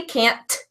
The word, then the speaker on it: can't: C and T because when we say can't we don't actually pronounce that T so let's hear a little bit of this difference alright so here we're gonna say cannot I can't tell her I can't